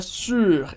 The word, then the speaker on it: sur: aqui a gente tem a pronúncia da letra u em francês que é a letra do biquinho famoso som do biquinho u que facilita muito se você pronunciar a letra i i e arredondar os lábios fazendo i i u então vai lá na palavra sur esse U tá seguido